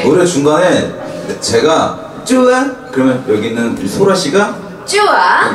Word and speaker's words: 좋아좋아: 이 곡은 좋아좋아라고 읽는 것보다는 쭈아쭈아라고 읽어주시면 되는 그런 곡이에요. 네. 노래 중간에 제가 쭈아 그러면 여기 있는 소라씨가 쭈아 여러분이 쭈아라고 네.